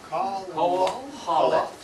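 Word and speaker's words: Kohelet: Kohalet. Kohalet. It reads from right to left. Kohalet. All right, Kohalet.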